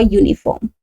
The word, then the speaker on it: uniform: a university or a uniform. Okay. We cannot say an uniform. Why sir? Because the pronunciation of this word begins with a consonant sound that is Y sound or Y sound that is venjan sound in Hindi vanala.